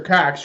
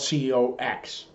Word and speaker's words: Cox: last name is spelled c-o-x dearest Governor Cox I do not know if you know this but when people say your surname it sounds like the word it's obscene us decent people here